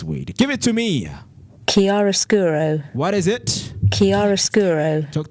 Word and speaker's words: chiaroscuro: the man has to say with the proper pronunciation of this word. Give it to me. Chiaroscuro.